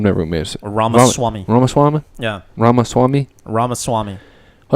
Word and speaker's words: Ramaswamy: Ramaswamy.